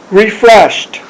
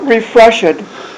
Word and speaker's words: refreshed: refreshed Not refreshet. refresh refreshet is Konglish. Refreshed is the way you'd pronounce it. So at the end you do actually a t t Just a t for the ED.